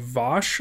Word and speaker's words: Vaush: by the name of vosch I think that's how you say it it's kind of like Josh with a dumb V in front of it was streaming talking